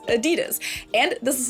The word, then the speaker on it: Adidas: And honestly, to this day, I think that they sound like 2 completely different words. Adidas versus Adidas.